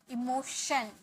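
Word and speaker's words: emotion: सिद्धांत थ्योरी संवेग इमोशन इमोशन श श ओके इमोशन विचारधारा आइडियो जीी आइडियो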